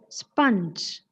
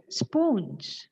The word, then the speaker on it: sponge: word it is sponge it is sponge and how do we what is a commonly heard mispronunciation of the word we pronounce it as spoonge here it's given spoonge nobody will know what that thing it will take some time right so the commonly heard Mis pronunciation of sponge and the correct pronunciation is sponge sorry sound okay it